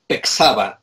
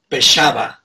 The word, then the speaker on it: Pexava: This guy said, it's not even Pexava. It should be Pexava. Pexava, because in Mayan, the X is not X, it's Pesh.